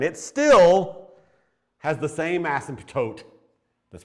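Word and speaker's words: asymptote: still has the same ASM toote that's pronounced ASM toote because the p is silent has the same ASM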